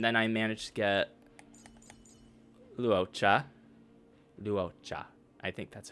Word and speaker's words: Luocha: When I was pulling for Luocha, how's it pronounced again? I'm a traveling merchant, merely passing through. The name's Luocha. Lucha. Luocha.